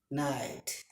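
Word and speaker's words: knight: তারপরে খে I know, খে এন আই টি ই নাইট। খে এন আই টি ই নাইট। খে উজ্জ্বল।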